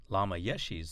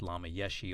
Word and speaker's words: Lama Yeshe: By the way, just as Tantra can be pronounced Tantra or Tantra, Lama Yeshe's name can be pronounced Lama Yeshe or Lama Yeshe.